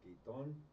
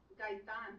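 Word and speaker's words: Gaitán: Well, her last name is Gaiton. Gaiton, am I pronouncing that right? Gaitan.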